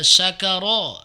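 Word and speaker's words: شكر: Kemudian eh syakaro syin ya. Syakaro itu artinya bersyukur. Terima kasih. Sakaro itu artinya mabuk teler. Jadi ee apa namanya kalau istilah jawanya mendem. Makanya berbeda. Jadi syin sin ya sakaro sakarah alam-alam berbeda ya.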